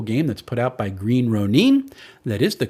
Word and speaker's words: Green Ronin: another really cool game that's put out by Green Ronin that is the correct pronunciation I went and asked until we see